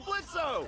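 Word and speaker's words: Blitzø: Hey, that sounds like Blitzo! The O is silent, asshole!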